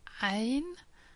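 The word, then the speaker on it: ع: The first two letters are Ain and Ghain. Both of them are a bit difficult to pronounce. Ain is like a mixture of E and Y at the same time, almost trying to strangle yourself.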